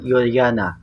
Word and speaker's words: Juliana: The former queen of the Netherlands, Queen Juliana (pronounced: yul-yah-nah) can be seen in obverse.